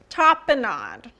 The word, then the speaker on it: tapenade: T-A-P-E-N-A-D-E. Tapenade. There's no M. I keep wanting to put an M on it.